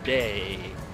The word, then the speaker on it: de: And then an option for de was mud or clay, which is actually pronounced day, which so is closer it has to e in it. Yeah, it has the e sound in it.